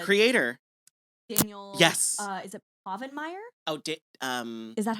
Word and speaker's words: Povenmire: Is it Povenmire? Oh, is that how you pronounce it? Povenmire.